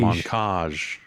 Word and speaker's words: Monkage: with the developer uh in terms of pronunciation it's like in montage that's how we got the name for this game montage in the cage so it's monkey monkage somebody said earlier that